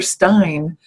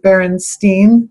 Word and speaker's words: Berenstain: And to me, that's very odd, because when I was reading books, I would be aware, like, is it Steen or Stein?